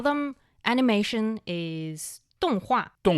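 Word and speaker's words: 动画: Um, you can call them animation is donghua. Donghua.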